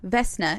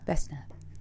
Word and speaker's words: Vesna: heard this name before but it's pretty Vesta Vesna it's v s n a vessna vessie that'd be a cute nickname Oh vess